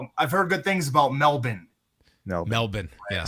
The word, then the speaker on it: Melbourne: I've heard good things about Melbourne.